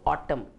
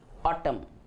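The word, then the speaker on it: autumn: एन is silent. We have to right in the spelling but we don't have to pronounce it. हमको लिखना ज़रूरी है लेकिन हम प्रोनाउंस नहीं करते हैं. सो ऑटम, ऑटम.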